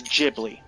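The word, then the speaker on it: Ghibli: English and that's it it's jibli with a J but if you're looking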